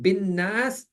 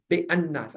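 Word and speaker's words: بالناس: Or bin nas, when I'm saying bin nas, I do not say be alif lam, be al and then nas, be an nas. I don't say be an nas, I say bin nas.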